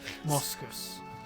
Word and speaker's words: Moskus: Moskus, like the animal.